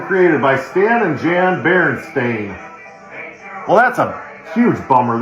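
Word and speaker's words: Berenstain: So apparently there's just a whole generation of boomers that just don't know how to spell or pronounce cuz that clearly says Stain. And then here written and created by Stan and Jan Baron Stain.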